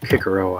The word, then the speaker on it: Cicero: I think it normally said Cicero, but the C's are pronounced as K's in Latin, so I took to calling it Cicero, I guess.